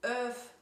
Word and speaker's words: öf: Bei 11 und 12 fällt das L vollkommen weg. Wir sagen also 11 und 12.